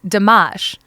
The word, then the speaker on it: Dammasch: of the hospital was spelled da MMA SCH so I pronounced it damash I was telling somebody